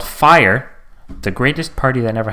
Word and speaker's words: Fyre: So it was called Fire. The greatest party that never happened, and Fire is spelled Fyre.